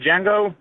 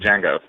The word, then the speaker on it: Django: and he's like uh the D and Django is silent and the guy goes I know I was the original guy who played Django oh nice oh oh